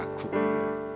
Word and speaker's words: Yacub: 야쿱. YACUB 이렇게 쓰더라고요. 야쿱. 아마 그 아랍어식으로 발음한 거. 야곱이죠, 야곱.